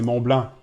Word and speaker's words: Mont Blanc: And you don't pronounce the C. In French, you say Mont Blanc.